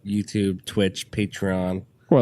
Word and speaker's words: Patreon: So, like, a funny story about podcasts, and I know, like, Patreon. Or is that a? Yeah. Did I pronounce that right? Yeah, Patreon.